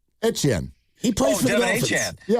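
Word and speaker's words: Etienne: Well, he said his name is pronounced. Yeah. Etchen.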